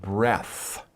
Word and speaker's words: breath: out that is one breath okay so when you talk about a breath as a noun it's no e and we pronounce it breath but if you're talking